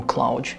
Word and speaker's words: Claude: algoritmo porque na verdade o Claude em inglês ele está sendo pronunciado como Cloud uma referência óbvia a palavra Cloud significa nuvem em inglês então eles escreveram de uma forma diferente mas no fundo provavelmente eles estavam querendo se referir a Cloud de nuvem E se a gente